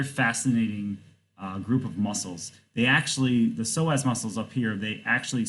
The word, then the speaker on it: psoas: This word right here, psoas, P-S-O-A-S, is pronounced psoas.